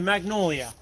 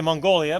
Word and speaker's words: magnolia: me with up magnolia the magnolia i always want to say mongolia but that's not right right so uh we're